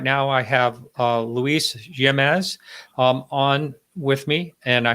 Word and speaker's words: Jimenez: This is Martin Willis, and right now I have Luis Jimenez on with me, and I hope I pronounced your name. It's Jimenez, but that's fine.